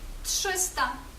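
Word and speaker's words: trzysta: пшистанок зупинка пши пшистаник тши наприклад у слові тшиста 300 тшиста Отож коли ви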